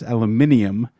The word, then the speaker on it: aluminium: In the UK and I guess Australia, it's aluminium because there's an I before the M.